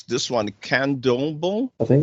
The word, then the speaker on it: Candomblé: So the next one, I can barely pronounce this one, Candomblé. I think it's Candomblé, but I could be wrong. Candomblé, okay, Candomblé.